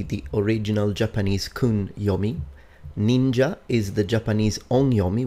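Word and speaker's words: 忍者: noono would be the original Japanese Kun yomi ninja is the Japanese on yomi which comes from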